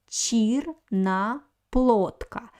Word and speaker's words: черноплодка: But the third vowel is O is stressed. That's why I pronounce very good O. Черноплодка. And I want to pay your attention on the letter D. So here the letter D stands before voiceless consonant K. So it's a weak position for the letter D. That's why we write D, but pronounce it like T.